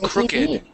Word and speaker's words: crooked: Crooked. Crooked. Uhhuh. Even with the ed ending on the end. Crooked. Okay. Okay. So, that's how we pronounce this word crooked.